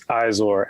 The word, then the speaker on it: Izor: On the line now, we've got Izor. Is that right? Is that how you pronounce it? It's Izor, actually.